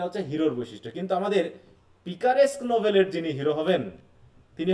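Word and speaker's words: picaresque: তো দেখো এখানে বলা হচ্ছে, বানানটা খেয়াল করো, হ্যাঁ, পিকারেস্ক নোভেল।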